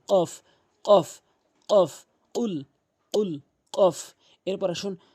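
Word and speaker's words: ق: এর সঠিক অর্থ হবে যদি আপনি কফটি জিহ্বার গোড়া উপরে তালু থেকে জিহ্বার গোড়া, জিহ্বার মাঝখান জিহ্বার গোড়া থেকে উপরের তালুতে ভালো করে বুঝবেন কথাটি। জিহ্বার গোড়া থেকে উপরের তালুর সঙ্গে যখন লাগাবেন তখন এভাবে উচ্চারণ হবে।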